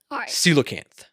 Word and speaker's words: coelacanth: paleozoic and mesozoic fossils coelacanth yeah so is it pronounced c locant or c la cant uh i believe it's can't yeah i'm i'm asking if it's a oh or uh in the middle so c low canthar